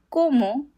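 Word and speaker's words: cómo: The o in Spanish always makes the sound o. Not o. Always it's o. And the accent over the first o indicates where the stress in the word is.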